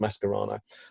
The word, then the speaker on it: Mascherano: is why mascara no or mascherano actually is pronounced mess karana wasn't polite Leto ever